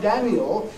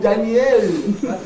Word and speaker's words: Daniel: him not Daniel but make that e in this last syllable into a clear vow instead of reduction right if they actually make a then Daniel Jones sounds like as if the Danny is his first name and L is his